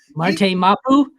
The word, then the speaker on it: Marte Mapu: Marte Mapu?